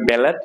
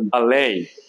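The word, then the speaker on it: ballet: রেফো পরেরটা কি আছে এটা অনেকেই বলবে ব্যালেট এটা বালেই কি হবে এখানে ঠিক উচ্চারণ হবে না বালেই কয়টা কি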